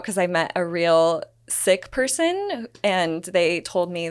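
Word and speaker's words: Sikh: really funny um okay so you said sick but you mean like the religious yes how do you spell it isn't it like an interesting spelling s i k h okay that's what right so people just don't have in their mind like coughing sick yes right can you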